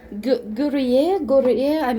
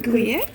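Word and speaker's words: Gruyère: Yes, and I hear Guriye, I'm saying it wrong, I know. The city here that has best cheese, as some Where claim. is the rain? We have a city that they make parallels with this. Guriye? Am I saying it right? Guriye? Gruyere? Yes.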